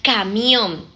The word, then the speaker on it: camión: Como por ejemplo la palabra camión. La sílaba tónica está en om.